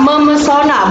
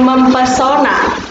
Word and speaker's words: memesona: Nah, ketika kata dasar pesona diberikan imbuhan menasal, menjadi kata memesona, bukan mempesona, gitu ya.